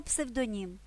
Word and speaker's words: псевдонім: Агроном агрономія Кулінар кулінарія слово псевдонім дуже просто МІМ узяв псевдонім маркетинг Марк вивчає маркетинг